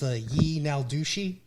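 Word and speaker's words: yee naaldlooshii: ton of sightings and the words for skinwalker in the Navajo language is actually pronounced ye now douchey which translate to translates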